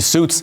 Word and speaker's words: Sjuts: IT'S ACTUALLY "SUITS." THE G SILENT -- THE J IS SILENT.